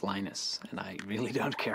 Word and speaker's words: Linus: I speak Finnish it's Lino's when I speak English its Linus and I really don't